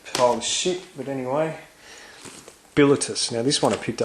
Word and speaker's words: Bilitis: Yeah, and it is pronounced Bilitus. I always thought it was Bilitis, but it is not. It is Bilitus.